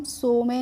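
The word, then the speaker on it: some: ई और एस ओ एम ई को हम सो में नहीं सम पढ़ेंगे क्योंकि यहां पे जो बच्चों ओ का प्रोनाउंसिएशन हो रहा है वो अस की ध्वनि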